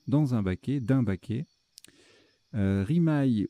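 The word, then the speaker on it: rimaye: Rimaille ou rimet, ça se prononce aussi rimet.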